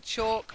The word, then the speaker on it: chalk: rhymes with joke and chalk rams with walk it seems it seems